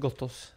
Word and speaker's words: Gotaas: Navnet uttales Gotthos. Gotthos? Gotthos, ja. For noen okay. som uttales, uttales Gotthos.